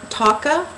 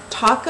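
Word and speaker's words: Tocca: So again, this is from Taka, I believe you pronounce it, T-O-C-C-A.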